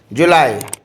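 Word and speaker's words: juillet: एल एल ई T English में तो पढ़ने में जूलियट जैसा लगता है लेकिन दिव्या फ्रेंच में इसको क्या पढ़ेंगे जूली जूली ओके उसके बाद ट ट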